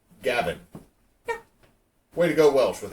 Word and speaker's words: Gawain: to English which means Gawain should be pronounced more like Gavin way to go Welsh